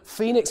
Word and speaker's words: phoenix: you know happens so Phoenix also you know pH this is a no one says Phoenix or anything like that right this is a Phoenix with an F so it's quite important